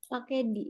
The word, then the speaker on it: the: di tadi kalau misalnya Terus kalau diawali dengan huruf konsonan maka berubah menjadi the Nah kalau tadi The Embassy itu setelah kata the itu diawali oleh huruf apa vokal apa konsonan jadi cara membacanya pakai di berarti DM besi kalau